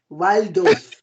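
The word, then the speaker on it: Walldorf: How do you pronounce that thing again? We call them now Waldorf.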